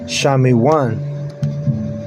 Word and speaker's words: Simeon: And you say Shamiwan. Shami in Hebrew.